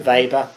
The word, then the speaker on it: Weber: someone like Isabella Weber vber um not sure how you pronounce it she's German so probably vber um is another